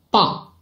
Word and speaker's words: 棒: 字好 now I can tell you the pronunciation we can say 这个字读棒这个字读棒棒 is its